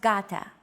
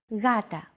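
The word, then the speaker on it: γάτα: initial G letter but it is not pronounced Gata the first consonant is softer ugata watching contemporary videos such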